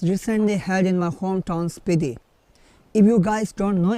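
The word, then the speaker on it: Spiti: had in my hometown speedy if you guys don't know about this pity is pronounced as pity in booty or in tibetan language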